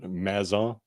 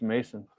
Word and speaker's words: Mason: Mason, not Mazon? No, I think it's Mason. Or at least that's how I've always heard it pronounced.